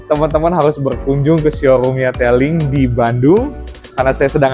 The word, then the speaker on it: Tailg: Taing dibacanya telling kalau di Cinanya telling ini salah satu produk unit andalan dari telling untuk sepeda listrik dengan kapasitas 1000 watt.